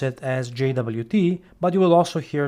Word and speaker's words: JWT: I like to pronounce it as JWT, but you will also hear this weird name out there called Jot for JSON web token.